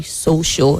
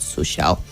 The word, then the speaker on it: social: And the word is social, just like in global, the A there is a weak sound. So you say social and not social.